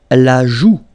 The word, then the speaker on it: la joue: La joue. La joue. Final E not pronounced here.